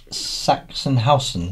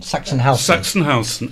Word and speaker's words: Sachsenhausen: Sachsenhausen. Sachsenhausen.